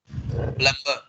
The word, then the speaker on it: plumber: Plumber. Once again, Yogin. Plumber. You are wrong, Yogin. You have MB together. In this particular set, you are supposed to keep burr silent.